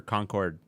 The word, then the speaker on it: Concord: Uh, Lexington and Conquered. Uh, is it conquered or Concord? I I usually say conquered, but yeah. Is that Kat if you want to say it like a New Englander?